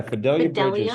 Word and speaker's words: Fidelia Bridges: Yeah, Fidelia Bridges. So, it's spelled Fi D.